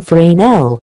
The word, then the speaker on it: Fresnel: They were originally created in the 1800s by the French physicist Augustin-Jean Fresnel, so they're pronounced with a silent S, to use in lighthouses as the beam can be seen farther away.